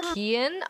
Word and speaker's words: Cian: It's pronounced Kian.